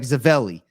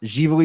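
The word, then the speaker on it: Ziveli: online type in z-i-v-e-l-i looks like zavelli it's pronounced jivoli Winery uh we have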